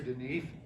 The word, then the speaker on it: Deneath: Joe did mispronounce one fellow's name. It's Terry Deneath.